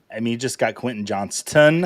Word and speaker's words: Johnston: You just got Quentin Johnston. I feel like I need to pronounce that T here on FYF.